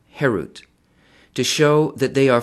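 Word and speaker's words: חֵרוּת: herut on the stones do not pronounce it carved harut but rather freedom herut to show that they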